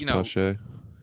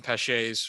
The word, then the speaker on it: Pache: Like, How's Pache?